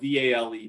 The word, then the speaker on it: Vale: a couple years ago it's uh it's called vale uh and it's spelled v-a-l-e but it's pronounced vale it's it's it's the